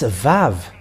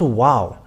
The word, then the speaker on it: Vav: we can see that it's VAV it's not wow but VAV that comes